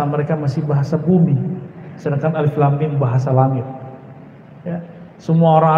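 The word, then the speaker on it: الم: Karena bahasa mereka masih bahasa bumi, sedangkan alif lam mim bahasa langit. Ya, semua orang Arab bingung. Kita alhamdulillah diizinkan Allah Subhanahu wa taala mendapatkan ayat-ayat seperti ini. Dan dibacanya bukan alamun. Alamun artinya penyakit, sakit.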